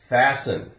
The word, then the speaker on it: fasten: We have fasten. Now we have S-T-E-N. If we took off the E-N, we'd have fast. Fast. And we pronounce the T. Fast. Now we have fasten.